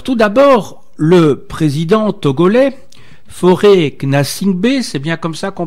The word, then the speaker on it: Faure Gnassingbé: Alors tout d'abord, le président togolais, Faure Gnassingbé, c'est bien comme ça qu'on prononce? C'est Faure Gnassingbé.